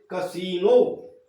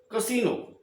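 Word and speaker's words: casino: जैसे यहाँ पर ये जो आई आ रहा है, इसका उच्चारण बड़ी ई के रूप में होगा, यानी इसको हम बोलेंगे कसीनो, कसीनो।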